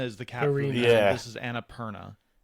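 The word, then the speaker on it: Annapurna: by Beth Hovind and Dinosaur and published by Anapura. I knew I'd get the name wrong. Annaperna. It's a cat food company. Like there it's Annaperna or Annapir. Annapirina is the cat. This is Annaperna.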